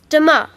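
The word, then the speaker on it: demain: can you say that again please yes it's Damar how do you spell that d e m a i n great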